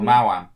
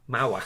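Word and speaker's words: Maoam: I'm not sure how you pronounce the company name, but it's like the other Haribo brands. Like Mao. Oh, Mao-Am. Mao-Am.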